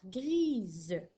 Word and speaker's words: grise: et ça va faire grise. Alors, grise s'écrit G-R-I-S-E. Alors, le S ici n'est plus muet. On l'entend, il fait le son Z puisqu'il est entre deux voyelles.